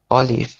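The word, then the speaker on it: Olive: নাসিওনাল এন নাসিওনালগত ও অলিভ অলিভে ঠিক আছে অলিভে অলিভে ইয়া অলিভে ফে ফাও না এটা ফে হবে না মানে অনেকটা উচ্চারণটা ফে আর ভে এর মাঝামাঝি অলি ইভে ঠিক আছে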